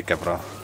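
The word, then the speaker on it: kewra: Kiura. But in Urdu we don't say W, we say V, so we say Kevra.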